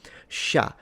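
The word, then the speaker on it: chat: So even though the French just put T here as a Christmas decoration but they don't pronounce it which kind of exemplifies 95% of their writing system still sha we there is a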